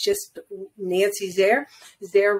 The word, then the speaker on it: Zare: or or you know it's just Nancy's there there rhymes with care so uh in case you're wondering